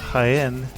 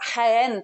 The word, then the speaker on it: Jaén: I'm happy to talk to you about Jaén today. And that's somewhere that is spelled Jaen, even though it sounds like it's with an H.